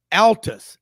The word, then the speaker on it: Altus: pipe company in Birmingham it's pronounced Altus as in Al may not awful I sold pipe there